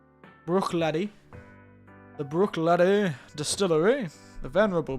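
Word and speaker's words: Bruichladdich: So, tonight, we have from the Venerable Brookladdock. However you pronounce it, Brookladdock. It's very hard to pronounce their name. I've never been very good with Scots Gaelic. Let's get the pronunciation. Brooklady.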